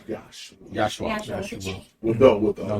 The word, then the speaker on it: Yeshua: Okay, so they say Yeshua then, Yahshua. or Yeshua. Yeah, Yahshua is the proper pronunciation.